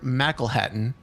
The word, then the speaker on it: McElhatton: Heather McElhatton, and that's how her name is pronounced. She says it rhymes with tackle Latin.